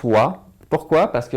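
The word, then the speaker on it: は: contre je le prononce wa. Pourquoi? Parce que lorsque le hiragana ha se transforme en particule, il se lit wa.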